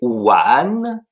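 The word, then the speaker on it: 完: Le premier c'est one w a n 2e ton qui s'écrit de la manière suivante.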